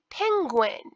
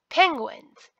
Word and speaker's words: penguin: here we have a penguin e-n-g-u-i-n-s so it's a hard g penguins the g is followed